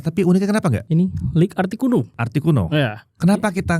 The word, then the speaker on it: League: Yang jelas sepatu lokal dari League. Bacanya League ya, bukan Lea gue. Bukan, League.